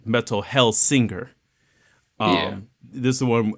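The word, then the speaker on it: Metal: Hellsinger: Metal Hellslinger. Well, my bad, and I said it wrong. Metal Hellsinger.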